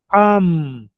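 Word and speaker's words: עם: Patar embaixo é som de a. E o mesmo sofite a é o m no final. Am.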